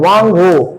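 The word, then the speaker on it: 黄河: एन जी पढ़ते हैं वांग हो वांग हो है ना एक्चुअली एच साइलेंट होता है वांग हो वांग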